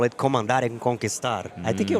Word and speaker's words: conquistar: Comandare conquistare? Conquistar, yes. Conquistar. Very good.